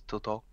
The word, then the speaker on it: TOTO: Also, apparently, it has an accent on it, which means it should be pronounced as it would the Italian name, which is Toto.